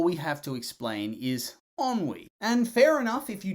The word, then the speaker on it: ennui: Apparently, it said ennui? Ennui? Oh no. I hope I'm not getting it wrong. Anyway, ennui.